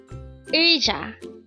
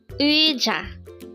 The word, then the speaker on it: 의자: UIJA, UIJA. Just pronounced as a two-syllable word. The first syllable is ui, and second syllable is ja.